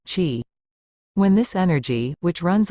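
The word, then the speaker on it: qi: force or energy called chi or chi pronounced chi when this energy which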